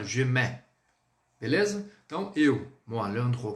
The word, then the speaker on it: je mets: Há pessoas que utilizam, que colocam a pronúncia assim, ó, je mets.